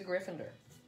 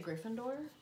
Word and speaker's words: Gryffindor: um soph is a gryffindor i always want to say gryffindor but then people say gryffindor which is it gryffindor so here he is